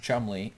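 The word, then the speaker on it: Cholmondeley: igny what's Chumley Chumley oh yeah but it's pronounced Chumley and uh he's saying this stuff is crazy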